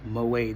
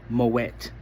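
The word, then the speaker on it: Moët: Moette, they said it's not pronounced moay. They said it was never a French name. It's it's originally a Dutch name, so you pronounce the T. So, it's Moette.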